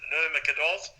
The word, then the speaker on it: Nurmagomedov: And the news out there, mate, is that the match between Khabib, how do you pronounce it, Jeff? Nurmagomedov.